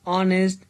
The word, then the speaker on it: honest: It will be noticed that the word are honest, air begin with a vowel sound as the initial consonant h is not pronounced.